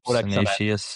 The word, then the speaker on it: Codex Sinaiticus: Codex Sinaiticus.